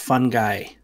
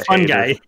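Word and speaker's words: fungi: to many more episodes I think it's pronounced fun guy he grows on you like a fun guy what's that Gab you're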